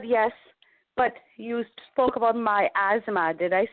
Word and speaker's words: miasma: So you said yes But you spoke about miasma.